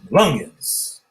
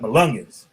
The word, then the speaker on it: Melungeons: It's spelled MELUNGEONS. Malungans. If you be on my ass and shit, I never know when you trying to be funny and shit. Yep, Malungans.